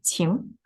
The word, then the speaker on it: 晴: This is 晴 going up, second tone.